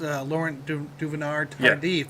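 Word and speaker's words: Laurent Duvernay-Tardif: So we do need Trey Smith to have a strong game because we lost Laurent Duvernay Tardif, that Canadian doctor with a broken hand out. Wait, how did you pronounce that name?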